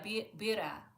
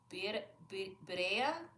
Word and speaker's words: birria: Oh yeah, bira. How do you pronounce it? Birria? Because I know the I is E.